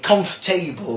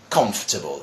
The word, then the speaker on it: comfortable: be confused I mean people also also say comfortable or something like that like that there's a table back there no there isn't my friends it's comfortable comfortable it's shorter pronunciation to that word okay let's go to